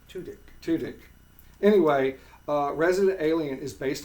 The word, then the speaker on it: Tudyk: and it stars Alan Tudyk, and I always mispronounce his name. Tudyk.